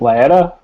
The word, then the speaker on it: Lea: yeah my name is Lea rhymes with petta that that's the new